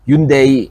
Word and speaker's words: Hyundai: And something like a Staria from Hyundai or Hyundai, if I have to say it correctly or something like a Mercedes VCO has this much and this much storage.